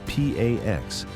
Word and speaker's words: P4X: He calls himself P4X, pronounced P AX.